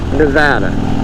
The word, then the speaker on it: Nevada: They say the safest city to ride your motorcycle in is Reno, Nevada.